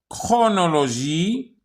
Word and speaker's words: chronologie: Il peut s'écrire avec CH, yani ch, ou ça se prononce que. Chrome, chronologie, écho.